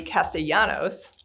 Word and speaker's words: Castellanos: Today, I am honored to have with me Castellanos.